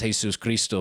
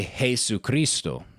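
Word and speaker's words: Jesucristo: exception and somewhere where maybe somebody says Jesus Christo but 99.9% of Hispanic speakers say Jes Christo they they put the two words together that's just how you say it in Spanish there's nothing wrong with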